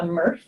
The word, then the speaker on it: MRF: But we're going to be walking through footage that was collected on a tour of what's called a MRF, which rhymes with Smurf, but that stands for a material recovery facility.